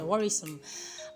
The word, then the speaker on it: worrisome: The E here is silent. That's why I say worrisome.